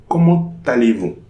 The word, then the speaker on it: comment allez-vous: So here there will be a liaison between the T and the A. And this is the only expression starting with an interrogative adverb where we are going to have this liaison. Okay. So here we pronounce comment allez-vous?